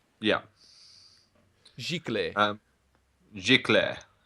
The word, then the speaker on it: Giclée: Gicle. Yeah, Gicle. um, Giclée. Yeah, if you want to pronounce it properly, Giclée printing. I It's don't a even know if French word.